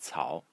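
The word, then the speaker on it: 艹: So the top of the character is pronounced, the thing that I highlighted in yellow is pronounced Cao. in the third tone, and it is herbs or grass.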